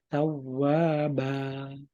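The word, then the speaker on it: تَوَّابًا: Bukan ba, tapi tawwaba.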